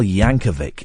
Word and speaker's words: Yankovic: And also next week, Weird Al Yankovic. It's a hard C at the end.